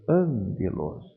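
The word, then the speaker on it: ἄγγελος: ler eu vou ler angelos o primeiro G Eu leio como se fosse um n faça uma pausa no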